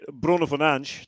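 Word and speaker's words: Bruno Fernandes: pronounce it correctly yeah i think the bruno finance to use the portuguese pronunciation i think that's probably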